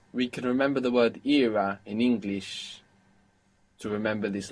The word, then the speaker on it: era: And if we pronounce era as if it was Spanish, we get Era.